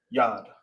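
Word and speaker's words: יד: Yad. All right. You read like this. Y the whole thing is connected. Bam. hand in English in the ancient is called it sound is pronounced yad in ancient spelled from right to left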